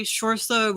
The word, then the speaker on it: Saoirse: And as a kid, she's played by Saoirse Ronan. Like I think that's how she pronounces her name.